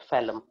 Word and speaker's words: phellem: और बाहर वाला जो सेल आएगा, इधर की ओर जो सेल्स डिपॉजिट होगा, they are called फेलोजेन, फेलम, sorry, फेलम, PHELLEM, that is pronounced as phellum, नीचे वाला फेलोजेन, और इसको हम लोग कहते हैं फेलोडर्म या फिर सेकेंडरी कॉर्टेक्स, ठीक है।